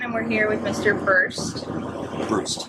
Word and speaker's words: Brust: Brust. Brust.